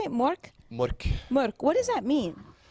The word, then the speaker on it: Mork: Mork.